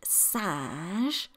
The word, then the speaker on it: singe: It's a sound that is un, as in the word singe, which means a monkey. It is spelled S-I-N-G-E, a singe. It's the same sound as in the number one, un, but that's spelled U-N.